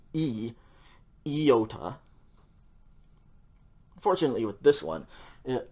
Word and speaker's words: iota: in english okay and usually it's pronounced like iota i don't care one iota about that okay but in greek at least in biblical greek this is pronounced with a short i sound so it's going to be e iota unfortunately with this one